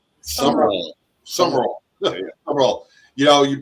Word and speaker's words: Sumrall: Am I pronouncing that right? Sell. summer roll.